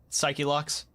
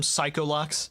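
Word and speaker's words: Psyche-Lock: phoenix's magatama um and he continuously mispronounces uh psyche locks he calls them psycholox i believe we have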